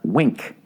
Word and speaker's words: Winc: __ ] point wink winc for some reason pronounced wink when you have a